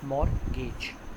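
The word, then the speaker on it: mortgage: मैंने आपको पहले भी बताया था, टी is silent, it's pronounce as मॉर्गेज bonds.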